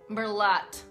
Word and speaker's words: Merlot: and finally the 20th wine faux PA is pronouncing the T in merot Merlot Merlo all the teas and wines are silent